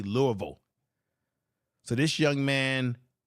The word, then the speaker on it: Louisville: what is it there's people say Louisville or Louisville and people that live in that part of Kentucky they say Louisville so this young man